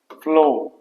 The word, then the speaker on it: flaw: पहला वाला जो वर्ड है FLAW, इसका प्रोनाउंसिएशन कुछ इस तरह से होता है फ्लो।